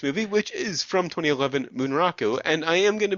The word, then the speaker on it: Bunraku: which is from 2011, Bunraku, and I am going to be mispronouncing it a little bit just because if I gave it the proper Japanese pronunciation, which I think is more of Bunraku, there'd be a lot